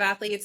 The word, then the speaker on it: Athleats: My company is Athletes Nutrition. It's spelled ATHLEATS, like eat.